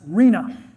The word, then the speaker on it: RHNA: The acronym is pronounced RENA. That's how you talk about it. Reena.